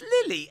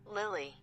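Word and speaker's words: Lili: lilly lily lily can it's lily l-i-l-i lily lily i don't want to get your name wrong i mean that would be awful wouldn't it can i go on to like a pronunciation thing hang on translations uh english l-i-l-i lilly yes lily it is lily oh i forgot she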